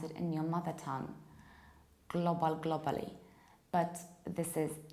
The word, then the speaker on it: global: And now think, what is the shape of this globe? Is it square, like when you say global, globally? No, it's round. It's global, globally.